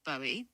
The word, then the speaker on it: Bowie: As for David Bowie, well, his name's pronounced Bowie, like the American buoy.